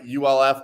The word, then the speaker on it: Ulf: But you pronounce his name Ulf, right? ULF, Ulf.